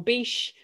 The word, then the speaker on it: Bysshe: I think people say Bish, but that just sounds stupid to me.